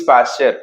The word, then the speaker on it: Pasteur: पास्टियर लिखते हैं, बोलते हैं पास्चर। टी यहाँ पे साइलेंट हो जाता है, लेकिन हम लोग इंडियंस हैं, हमें तो स्पेलिंग क्लियर सही से बोलनी चाहिए।